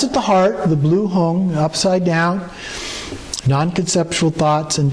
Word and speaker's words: Hung: Hung in Tibetan is pronounced Hung, H-U-N-G. In Sanskrit it's Hum, H-U-M.